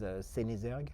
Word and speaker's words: Senizergues: Oh, my last name is Sinzer.